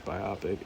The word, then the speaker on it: biopic: care for biopics also I thought it was biopic I heard somebody pronounce it as biopic and it's been that in my head and then I Googled it and it's biopic so yeah um yeah I